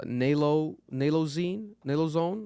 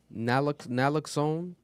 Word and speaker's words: naloxone: The nalozone, how do you pronounce that? Naloxone.